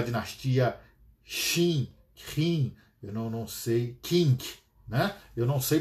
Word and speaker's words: Qing: O Eduardo está dizendo aqui, meu caríssimo embaixador, pronuncia-se Qing. Muito bem, obrigado, Eduardo. Qing a última dinastia, né, na China, que acaba em 1912.